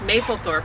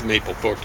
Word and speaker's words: Mapplethorpe: And I said it wrong. It's Mapplethorpe. And James explained to me why they said it right. Well, I think so. It just means Mapplethorpe. Doesn't matter how it's spelled.